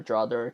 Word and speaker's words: DROther: DR other, drother, tomato, tomato. If you say tomato, you're wrong. Now, I pronounce it DR other.